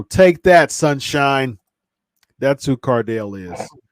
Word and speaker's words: Cardale: I mean, and that's one of those things that see, look, your boy, Cardell. First of all, you said his name. Really, Mo? You spelled his name wrong. It's Cardale Cardale, Cardale Jones, for one.